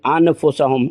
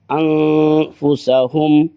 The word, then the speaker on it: انفسہم: ایسے نہیں پڑھیں گے، انفسہم نہیں، انفسہم غنہ کریں گے، اخفا، انفسہم وما یشعرون۔ واو